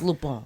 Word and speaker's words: Lupin: The fact that, because she said Lupin when she first started watching it. It's Lupin.